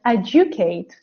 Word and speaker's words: educate: So when D is followed by U, okay, can you see that? And it's sometimes pronounced as J sound, like in the word educate.